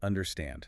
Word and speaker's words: understand: The word understand. The stress is at the very end. Understand. Understand. If you put the stress on the first syllable, it sounds completely wrong.